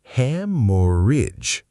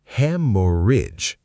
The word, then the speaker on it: haemorrhage: Haemorrhage. The ending is soft, not age like a page, idge. Haemorrhage. Hemorrhage.